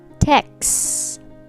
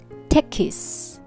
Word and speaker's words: text: me salad good text text not texus so it is one syllable word text if you say texus that becomes two-syllable word but this is just one we say text repeat after me text